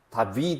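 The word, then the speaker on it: דוד: 생각해 볼 수가 있습니다 다드 그가 이게 우리 영 한국말로 비읍 발음이 나긴 나는데 사실은 비이 아니고 더 약하게 발음을 해야 되는 그런 단어 다드 다드 그니까 다드 다드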